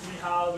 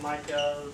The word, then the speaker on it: Michal: So my name is Michal, you can pronounce it Michael, so I'm from Poland, that's why it's Michal.